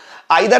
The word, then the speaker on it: either: या ईदर और बोले, आपकी मर्जी, आपको जो प्रोनाउंसिएशन खास लगता है वो बोलिए। आइदर और आपको लगता है